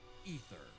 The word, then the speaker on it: Aether: that drew the eye of someone beyond the stars, Ether. AKA the Traveler. Who is Okay, someone explain to me how that name is pronounced Ether when it's spelled Aether.